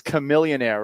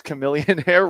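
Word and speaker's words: Chamillionaire: I'm always going to butcher the pronunciation of this because I see it and I try to pronounce it phonetically. It's Chamilillionaire, right? It's Chameillionaire riding dirty.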